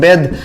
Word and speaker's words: bathe: जब कभी भी TH के बाद आने वाला लेटर ई, पांचवा लेटर इंग्लिश अल्फाबेट का, वो साइलेंट हो तो ऐसे में उस TH को भी प्रायः द ही पढ़ा जाता है।